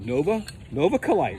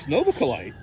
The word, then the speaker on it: Novaculite: And I was saying something like Novaculite. It's Novaculite.